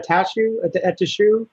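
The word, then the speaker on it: Attaochu: Atashu?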